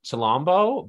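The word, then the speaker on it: Chilombo: i mispronounce anything here i think it's pronounced shalombo by janae aiko arjuni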